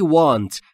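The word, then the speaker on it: want: نداشتم never گذشته شته وانت یعنی من میخواستم وانت یعنی خواستن و در مورد تلفظ دبلیو در وانت لب‌هاتون باید حالت بوسه یا لوله‌ای باشه هوا خارج میشه میشه وانت پس تلفظ وانت اشتباهه یعنی من میخواستم تو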